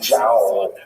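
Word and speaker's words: João: figure out with her, how do you say that? J-O. She thought it was like wow. Could you imagine naming your son wow? So she actually said Jow.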